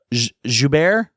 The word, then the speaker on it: Joubert: I got from reading, even just kind of leading up until your experiences learning about Suzy's condition, and we're talking about Joubert.